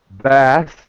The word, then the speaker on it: Bast: She was very adamant about pronouncing that last T. And I found out why, because the last T makes her name feminine. Without the T, it's masculine.